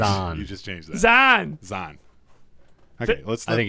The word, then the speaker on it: Zan: My name's Zan. Zan? Are you kidding me? How do you pronounce that?